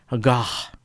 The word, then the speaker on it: gare: First, let's look at the French word for a train station, gare, pronounced with an ah sound, gare.